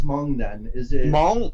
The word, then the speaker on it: Hmong: Is it Hmong? Oh, it's Hmong. Hmong. It's M. Yeah. So you have to kind of like you have to like open up your mouth, kind of like